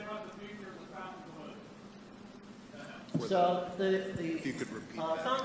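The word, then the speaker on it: Fontainebleau: So unlike our friend Mark at 360 Vegas, it's not pronounced Fountain Bleu. It is actually pronounced Fountain Blue. You can find that on their website because there's another one in Florida.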